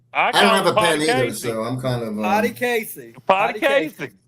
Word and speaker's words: Potecasi: Potty Casey. Not Potecasi. Okay. H is silent.